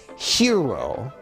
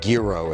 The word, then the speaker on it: gyro: I think the correct pronunciation is hero, like a hy sound, hero. But I think gyro is also acceptable. But euro is sort of I think the correct, more Greek-ish pronunciation.